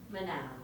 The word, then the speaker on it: Manal: Manal. I say that because I asked Manal how to say her name and she says it sounds like Canal.